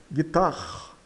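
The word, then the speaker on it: guitare: Vai magitar, palavra guitarre, guitar. O gui gui tem som de gui gui e o e final é mudo. E o r soa com um r carregado de carro. Carro, né?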